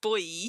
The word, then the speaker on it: buoy: I don't know how is boy pronounced differently elsewhere. I don't know how else you would pronounce it because I don't think I've heard it pronounced any other way, but wouldn't surprise me if it's different in different places. But yes, that is the English language for you. Lots of things that sound alike. You always pronounce it boy.